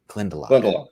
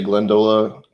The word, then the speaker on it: Glendalough: So this is Glendalough, you said. That's how it's pronounced. I want to make sure I got that right. Glendalough. Yeah. Some people will say Glendola.